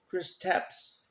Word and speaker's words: Kristaps: How do you pronounce his first name? Kristaps Porzingis.